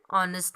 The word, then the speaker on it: honest: Now, honest is a word beginning with H, and H is not a vowel, but here H is silent in the spelling of honest.